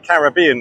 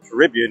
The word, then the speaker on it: Caribbean: I'm in Cancun Mexico on the Caribbean or Caribbean if you want to mispronounce things check out the bad boy national flag welcome to this Flags in 50 places.